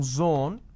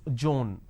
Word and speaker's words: zone: pronounce this as space instead of pronouncing zone they pronounce this as john now zone is different joan doesn't work there's no such word